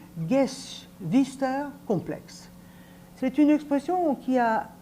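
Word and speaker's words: Geschwisterkomplex: période sexuelle la première alors en allemand mais vous vous excuserez ma prononciation ça se dit gues vister complexe c'est une expression qui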